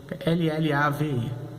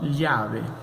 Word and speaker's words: llave: escreve G-A-B corta E, L-L-A-V-E, né? Pronunciando com o som do português. G-A-B corta E. Essa letra, os dois L's, o já, ela também pode ser pronunciada como lhá.